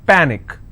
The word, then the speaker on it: panic: with icy picnic okay the rule says in case if you have any word that's ending with ic the stress should be on the last but one syllable so let's break this panic is which means i will stress on pa and it's pronounced that panic tragic trick i will stress on track magic i will stress on ma picnic i will stress on pick let me bring this